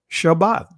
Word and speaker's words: Shabbat: you see here and notice how it's anounced here Shabbat just like how I how I pronounce it right prient root word